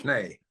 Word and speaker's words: Schnee: So Schnee, that's the proper pronunciation of your name, correct? Schnee. Yeah.